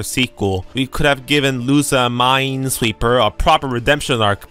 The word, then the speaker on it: Lusamine: You're saying it wrong. It's Lusamine. Not Lusamine.